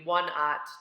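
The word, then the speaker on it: 1/0: three slash zero but whenever you see a number with a slash and then a zero the zero is pronounced at so the sizes are actually one ot two ott three odd etc it's important to choose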